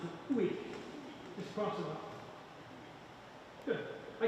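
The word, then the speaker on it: hic: Can I hear the basses from uic ergo? We don't pronounce the H in Latin, so uic is u. No H, cross the H out.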